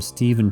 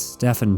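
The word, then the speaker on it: Stephan: I've been calling him Stephen Pastis, and that's completely incorrect. It's Stefan Pastis. It's my fault. It's Stefan Pastis.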